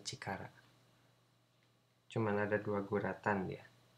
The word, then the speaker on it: 力: Dibacanya cikara. Cuman ada dua guratan dia. Ini guratan pertama. Kemudian ini guratan kedua. Nah, seperti itu. Ini dibacanya cikara.